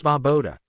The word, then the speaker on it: Svoboda: It's Svoboda. SS is Vo, Bo, Da.